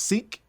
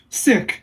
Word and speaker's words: Sikh: religion it's is pronounced seek sick similar to like ill but you know there's a bit of an emphasis on the kh but um the the